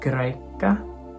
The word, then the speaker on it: Y: Y. This letter is pronounced like an O or a U umlaut in German, or like a French U.